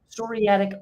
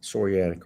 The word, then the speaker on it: psoriatic: psoriatic serratic psoriatic yeah psoriatic arthritis uh that's what I get for trying to correct you yeah the p is silent psoriatic arthritis yeah um you